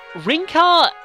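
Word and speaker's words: Rinkah: see in the trailer rinka is basically the pronunciation is the same but they've added an H to the spelling of it and suzuk Kaz is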